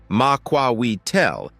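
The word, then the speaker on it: macuahuitl: The Muahidel, pronounced Maquawel, a distinctive weapon of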